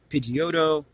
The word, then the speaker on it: Pidgeot: I think that this actually says that's pronounced Pidgeot, but I always thought that was pronounced Pidgeot.